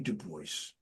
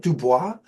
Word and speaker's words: Duboce: I told her it's Isn't it Dubois? And she Yeah. She said, "My husband's from New Orleans and that's how they pronounce it." All right. Dubo.